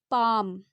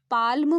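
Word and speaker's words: palm: एल भी लिखा है लेकिन हम इसे प्रोनाउंस क्या कर रहे हैं पाम तो पा और म के यूज करेंगे ठीक है हम इसे अगर हम पाल्म प्रो नाउंस करते तब हम इसमें एल लगाते लेकिन हम इसे क्या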